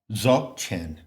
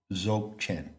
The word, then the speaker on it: Dzogchen: Now, another scholar has proposed that the word Dzog, which rhymes with sog and dog, in fact, it doesn't rhyme with dog, it is pronounced dog.